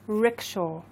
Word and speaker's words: rickshaw: Okay, this is called a rickshaw. Rickshaw. Let's say it again. What's rickshaw? Rickshaw. Rickshaw. So it's like a rah, rah, rah, rah, rickshaw.